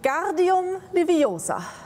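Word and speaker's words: Wingardium Leviosa: es eine Zauberformel wegen guardium niveausa genau die Betonung auf dem gar und auf dem Ohr zeige es Ihnen einmal und sie zaubert auf eine der Federn den guardium Leviosa und die Feder fliegt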